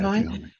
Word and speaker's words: Zhuhai: Yeah, Zhuhai.